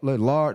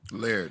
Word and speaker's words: Laird: You said like air, just Laird.